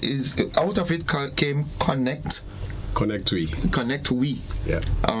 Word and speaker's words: ConnectWe: So tell us, what is Connect West Indies? Okay, so ConnectWe, as it's pronounced, it's a digital marketplace.